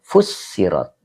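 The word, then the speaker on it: فُسِّرَتْ: Nah, kemudian ini dibacanya fi'il madi majhul tapi majid satu ya pakai tasjid fussirat.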